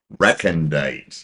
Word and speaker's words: recondite: Reandit. Rei t. And it's an adjective. Reandit. Yes, that is the pronunciation.